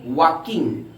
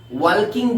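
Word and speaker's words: walking: এ ম্যান ওয়াজ ওয়াকিং, কি উচ্চারণ বললাম? ওয়াকিং, ওয়ালকিং বলবে না, ওয়াকিং।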